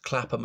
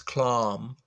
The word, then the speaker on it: Clapham: David skewered them by saying they pronounced Clapham as Clam, to pretend it was is posher, or Stockwell as St. Oakwell.